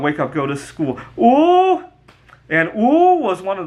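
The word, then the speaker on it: 五: 10 five in Chinese the number five is pronounced oo and it's really fun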